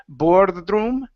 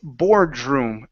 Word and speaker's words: boardroom: again control your tongue instead of borom okay it's boardroom boardroom boardroom okay all right